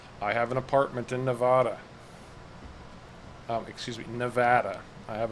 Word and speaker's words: Nevada: let's try that yeah so apparently if you pronounce it nevada um you're not from nevada the proper pronunciation is nevada and they'll immediately know you as an outsider if you say nevada welcome to nevada so you know because we